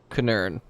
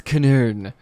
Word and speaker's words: Knurn: To the left of her, we have Kinurn, which is spelled Knurn. Kinurn. Okay. It's Kinurn.